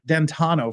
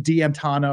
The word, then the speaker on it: Dantono: the F-150 driver and the prosecutor had this incredibly difficult time pronouncing dantono for some reason he kept calling him de anano or Deano it was kind of